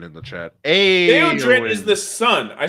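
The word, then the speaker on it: Théodred: He's like, oh, Your wife is correcting our pronunciation in the chat. Hey, Theodred is the son.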